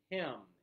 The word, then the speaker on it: hymn: this spelling him uh kind of a tricky spelling since that n is silent yes it is just pronounced him him so him and